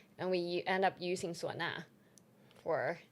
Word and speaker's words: suona: And we end up using suona for Right, wait, wait, what scene are you talking about the beginning of that scene?